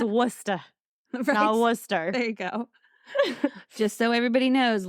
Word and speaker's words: Worcester: no ours and there's not that's why it's Worcester Worcester there you go just so everybody knows Lauren and I will be pronouncing our R's in this episode because we're